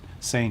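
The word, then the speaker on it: Seine: the Cen no I you don't say it Cen how do you say it in French s is it s s s that's how I've ever sing it I think it's sen right the sen I don't know somebody tell us phonetically how you say It Sane yeah Ser says sane too okay all right insane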